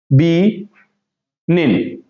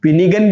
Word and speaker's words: benign: इसकी हम बात करें तो बी, देखो बी और फिर क्या है, देखो बी निन, बी निन। अब इसको बिनिगन भी पढ़ते हैं कुछ बच्चे, लेकिन